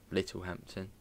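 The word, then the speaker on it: Littlehampton: well as little Hampton little Hampton silent t uh yeah again it's a little Hampton which I suppose is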